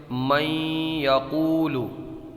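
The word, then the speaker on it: من يقول: من یقول۔ اس میں غنہ ہوگا، غنے کی مقدار 1 الف کے برابر ہوتی ہے۔ من یقول۔ ہجے بھی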